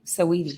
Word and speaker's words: Saweetie: It's just so it's Sweetie, but with an A. Saweetie. Saweetie.